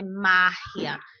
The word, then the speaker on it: magia: espanhol ela será anterior, que é o caso de magia, né? Magia. Então, é márria, é antes.